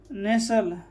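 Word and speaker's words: nestle: इस तरह से HUSTLE, तो यहाँ पर T साइलेंट हो जाएगा। हसल, नेसल, रसल, ठीक है।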